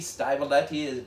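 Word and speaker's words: Stivaletti: now i've got to say sergio uh styletti stymoletti that's how you say it uh he of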